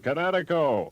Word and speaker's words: Kinetico: That means you should have remembered kinetic as in kinetic energy with an O on the end. Kinetico.